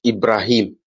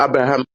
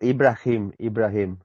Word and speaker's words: Ibrahim: Uh, my name is pronounced as Ibrahim. You know Ibrahim. Abraham? Yeah. Yes, Abraham. So No, Ibrahim.